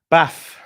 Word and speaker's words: Baff: Baff rhymes with naff.